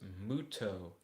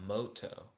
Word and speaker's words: Muto: Kirby said it's Muto, not Moto.